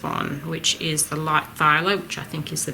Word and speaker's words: phthalo: go for this one, which is the light phthalo, which I think is the best match for this colour here. I'll put him here. I'm thinking this will probably be our grasshopper's colours. So that's the light phthalo.